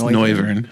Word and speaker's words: Noivern: It's Noivern. Oh, is it Noivern? Yeah. As in noise. Oh, is that what it is? I thought it was like noir, like film noir.